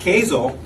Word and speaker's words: Kazel: And so with that, I have invited Andy Taddeo and Beth Kazel, with a K, sounds like Hazel. I don't know how to spell it, but that's how you say it.